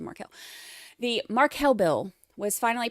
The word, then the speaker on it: Markel: get your own pronunciation I still slip into Marco instead of Marquel the Marquel bill was